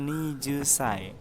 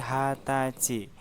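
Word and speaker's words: 二十歳: Ternyata untuk penyebutan umur 20 itu bukan Nijusai, akan tetapi Hatachi. Jadi untuk penyebutan umur 20 itu cukup dibaca Hatachi tanpa menggunakan kata sai, karena dia merupakan cara baca spesial, seperti itu minasang.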